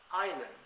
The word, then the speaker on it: island: be pronounced in English thus for example be in De doubt subtle C in Indi virtues s in L A Island Etc since there are